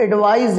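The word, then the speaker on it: advise: अब ध्यान से समझा, प्रोनाउंसिएशन में भी डिफरेंस है, इसको हम आप एडवाइस कहते हैं, इसको एडवाइज कहते हैं।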